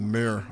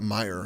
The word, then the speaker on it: mere: to descend into the mirror of the Deadmen, you notice Deadman. some, I don't know how to say the word very well. It's like mirror. It's not mire.